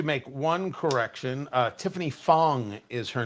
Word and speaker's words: Fong: Tiffany Fong. F O N G Not Wong. W NG.